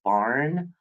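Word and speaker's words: Byrne: the secret by Rhonda I think it's barn but it's spelled b-y-r-n-e anyway if you have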